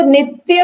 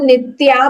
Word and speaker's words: नित्य: अब वो नित्य वर्ड है, तो अब नित्या भी हो सकता है वो, और नित्य भी, NITYA इज नित्या और नित्य, ये हमारा हुआ था अभी।